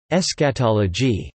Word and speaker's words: eschatology: The word eschatology, pronounced eschatology, is derived from two Greek words meaning last and study, eschatos last, and logia, lit.